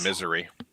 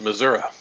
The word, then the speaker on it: Missouri: can't say misery right I have no idea how to correctly pronounce Missouri so I would just say misery I just rage purchased 200 with filament that's not a rage it's pronounced Missouri I mean X hey